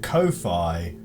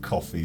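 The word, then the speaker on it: Ko-fi: there directly and oh it's just pronounced coffee is it oh I I pronounced it Kofi because I assumed it was supposed to rhyme with Hi-Fi or Wi-Fi is it just coffee boy shows what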